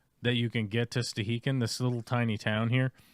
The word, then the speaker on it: Stehekin: It's pronounced Stehekin.